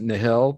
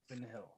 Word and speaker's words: Nihil: So that's when you get introduced to people pronounce it different, but I usually pronounce it Nihil. That's how I call them. I like Nihil. Yeah, Nihil. I think it's in the audiobook. That's how they were saying it.